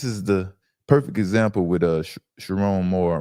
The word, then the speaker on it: Sherrone: And for Sherrone Moore, not Sherrone, it's Sherrone, right?